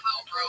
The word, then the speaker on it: Lilbrough: He's at Lilbro on Twitter. It's very hard to spell, but he's so funny. I'll spell it out for you. At LILBROUGH. He spells road with 3 silent letters at the end.